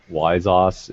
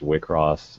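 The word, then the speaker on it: WIXOSS: because of this what what looks like uh like wyzos is actually pronounced wickross it it stands for wishes across which makes sense when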